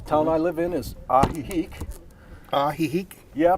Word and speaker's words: Ajijic: i'm a rio well in this case a j equals an h yeah yeah i just